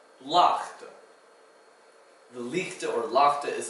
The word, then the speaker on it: laagte: The ch sound is spelled with a G. It's not exactly pronounced like a k or a g, it's like a ch. So, bergaan, or lichte, or laagte.